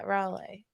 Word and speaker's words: Raleigh: city the one in North Carolina Raleigh yeah Raleigh I mean that's a r Raleigh I'm in